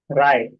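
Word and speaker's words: wry: तो उसको प्रोनाउंस कैसे करेंगे हम? राय।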